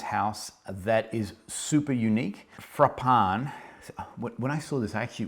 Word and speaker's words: Frapin: that is super unique frappan when i saw this actually it was oh i was calling it fr uh frappin frappin as in you know give me a frappin uh is that a